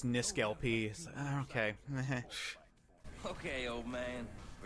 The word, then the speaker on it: NiskelLP: it's torque okay torquay like people when they pronounce my youtube name it's niskalp okay okay old man